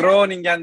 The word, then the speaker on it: Groningen: Aslında yok, aslında öyle de okunmuyor. Groningen. Groningen demeniz gerekiyor, böyle içten böyle. Oo. Hollandaca'da Hollandaca G böyle inanılmaz, böyle şeyden getirmeniz, boğazdan getirmeniz gerekiyor. Groningen diye.